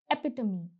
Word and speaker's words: epitome: The next word is epitome. Now, you don't pronounce this tome as tome. No, the pronunciation is epitome.